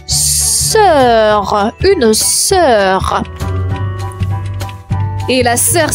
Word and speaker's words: sœur: On enchaîne avec le mot sœur, sœur, une sœur. Et la sœur s'écrit comme suite S-O-E-U-R. La particularité, le O et le E vont fusionner ensemble comme cœur, sœur.